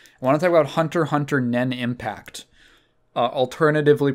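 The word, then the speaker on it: Hunter × Hunter Nen × Impact: want to talk about Hunter Hunter nen impact alternatively pronounced Hunter x Hunter nenx impact no you do not pronounce the X's so this is the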